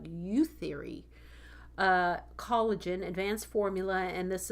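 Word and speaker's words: Youtheory: It's one word. You're supposed to say it like youth theory.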